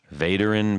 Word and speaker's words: Vaderin: guest hi I'm from veteran pedals veteran pedals that's correct you hey you got that